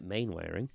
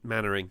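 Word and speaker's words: Mainwaring: steel was inspired by Dad's Army character Captain main wearing uh Captain mannering mannering I've you know what you know when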